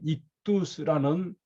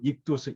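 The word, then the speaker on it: ΙΧΘΥΣ: 이게 뭐냐면은 여기에 익두스라는 그리스어를 쓰고 그리고 이 표시를 해두면은 이게 여기에 기독교인 있구나라는데, 익두스라는 뜻이 뭐냐 하면은 이게 익두스입니다. 이게 이제 그리스어인데 IX 이게 TH 발음입니다. US 우리말로 제가 영어로 하면은요,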